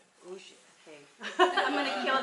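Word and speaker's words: Užice: I thought it was that because it's spelled U-Z-I-C-E, so I thought like rice, Uzice, but he tells me it's pronounced Uji.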